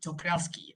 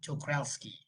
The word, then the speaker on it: Czochralski: CZ lah, kita panggil CZ, tapi Czochralski, that's how you pronounce it. Czochralski, yeah.